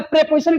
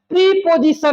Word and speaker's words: preposition: आइए हम बताते हैं, प्रीपोजिशन नहीं होता। क्या प्रीपोजिशन नहीं होता है भैया? प्रेपोजिशन होता है।